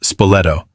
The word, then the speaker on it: Spoleto: One story, recorded by those who witnessed it, involved a small boy from the nearby town of Spoleto, pronounced Spoleto, three or four years old, named Matteolo.